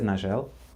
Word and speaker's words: Nagel: Nagel definitely doesn't have a hard G. She says Nagel, so we'll go with Nagel, I think, because that's what she says.